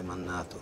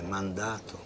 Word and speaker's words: mandato: Non si dice mannato, si dice mandato, con la ND.